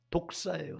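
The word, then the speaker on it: δόξα: 헬라흐는 독사예요. 독사. 여러분 독사하니까 혹시 뱀을 떠올리시는 사람 있을지도 모르겠는데 없다고 말하지 말아요. 반드시 있다. 근데 이거 헬라어 발음이 독사예요. 독사.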